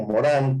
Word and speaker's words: Morin: Eh, Avanzo un poquito más, pensando, ahora sí yéndome a esta mirada del ser humano que tiene Edgar Morin, bueno, o Morán, como lo pronuncian los que saben pronunciarlo.